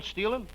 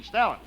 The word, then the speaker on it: Stalin: Marshall Steelin. Marshall Steelin. You mean Stalin? I'm using the European pronunciation.